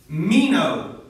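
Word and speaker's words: μένω: And abide is pronounced in Greek, it's meno, M-E-N-O.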